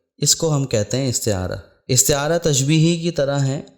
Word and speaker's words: استعارہ: سمجھ لینا ضروری ہے۔ لوگ اس کو استعارہ اور پتہ نہیں کیا کیا کہتے ہیں، اصل اس کا تلفظ ہے استعارہ، اور لفظی معنی ہے